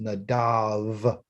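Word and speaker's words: Nadab: nadav okay okay nadav n-a-d-a-b okay but it's pronounced nadav okay and it's a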